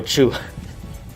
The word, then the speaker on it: Tszyu: Tszyu pronounced like zoo. Pow Tszyu is zoo.